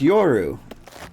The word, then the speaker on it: YYXRU: It's pronounced Yoru, but user is taken, so I had to be a little creative.